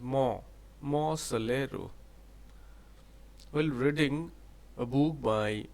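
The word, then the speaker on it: Monte Solaro: Actually, its pronunciation is Mo Solero.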